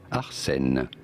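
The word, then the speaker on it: Arsène: pronouncing this in French in France we say it as Arsen but it'd be fine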